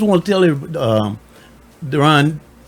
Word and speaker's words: Deron: would say but it's spelled d-e-r-o-n which is obviously pronounced duran and like for most